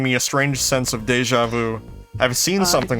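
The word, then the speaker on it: déjà vu: it is giving me a strange sense of deja vu. I've seen something like this before. It's pronounced deja vu. Oh, it's deja vu.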